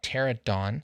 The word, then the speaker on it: pterodon: This has a PT, so I call it turbulence because the P is silent, just like pterodon, right? Because you don't call it a pterodon. That'd be stupid.